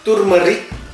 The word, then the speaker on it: turmeric: Turmeric, lihat ya pergerakan dari bisa turmeric, jadi kayak walaupun tulisannya turmeric, tetapi pronunciation-nya ya turmeric.